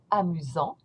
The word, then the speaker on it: amusant: the dictionary for funny, amusant. Don't pronounce the T, amusant. And here, when you pronounce it in the feminine form, you're going to pronounce the T because of the E.